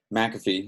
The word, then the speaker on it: McAfee: My name is Mcafee. You said McAfee, but it's fine. That's the proper pronunciation, but my family heritage has been bastardized over the years.